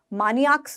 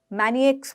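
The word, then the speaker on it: maniacs: मानियाक्स नहीं बोलते हैं, मैनिएक्स बोलते हैं, मैनिएक्स। इसके प्रोनाउंसिएशन क्या है? मैनिएक्स, ठीक है, मैनियाक, मैनिएक्स बोलते हैं, ठीक है। तो यहाँ मैनी है, माँ नहीं है, ठीक है।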